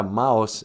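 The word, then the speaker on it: Maus: that's interesting well yeah mouse m-a-u-s spelled like a german way it's a comic book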